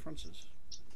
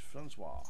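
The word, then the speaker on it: François: Is that Francois or is it Francis? It's Francois. Francois.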